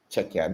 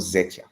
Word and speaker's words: Czechia: So Czechia, not Zechia.